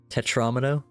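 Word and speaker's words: tetromino: Tetramino?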